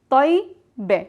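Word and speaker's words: طيّبة: But in the feminine and the plural, we pronounce the ya one time, tayyibe. But we are pronouncing the ya with sukun. That means there's no vowel on the ya.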